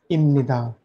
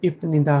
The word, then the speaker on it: 입니다: इम्निदा छोनन ईशानी इम्निदा, आप में से कुछ स्टूडेंट सोच रहे होंगे ये स्पेलिंग तो इपनिदा है, इपनिदा है, इप इप इप, आपकी स्क्रीन पर ध्यान से देखिए, लेकिन इसको इम्निदा इम्निदा क्यों बोला जा रहा है बार बार।